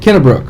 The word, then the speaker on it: Kennebrook: how do you say your last name Middlebrook Kenna Brooke okay good deal Kathy Kenna Brooke she is the marketing magic lady she has